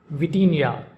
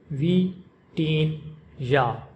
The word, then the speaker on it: Vitinha: The name of this Portuguese international footballer is pronounced in Portuguese with the emphasis on the second syllable teen. Vitinha, Vitinha, Vee-TEEN-yah, Vitinha, Vitinha, Vee-TEEN-yah, Vitinha.